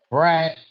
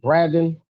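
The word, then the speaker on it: Bradon: Oh, and and and what they have my name wrong is uh Brad. How do they pronounce it? Braden.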